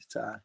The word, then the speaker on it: Ty: It's not Tay. I was saying Tay. Ty. Ty. All right, Ty.